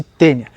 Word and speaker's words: taenia: se chama tênia saginata escreve-se taenia pronuncia-se tênia taenia saginata para lembrar